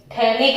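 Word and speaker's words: phthalic: CHO थे, तो ये थैलिक एसिड है। कौन सा एसिड है, थैलिक एसिड। ये PH जो आपको साइलेंट रखना है, फिर उसके बाद में थैलिक लिख दो, तो ये थैलिक एसिड है।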